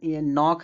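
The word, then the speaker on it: knock: देखो इसमें नॉक है। देखो के एन के बाद के आएगा। सॉरी एन से पहले अगर के आएगा तो इसको के उच्चारण मतलब नहीं निकलेगा। एंड साइलेंट रहेगा के इसको नॉक-नॉक माने खटखटाना होता है।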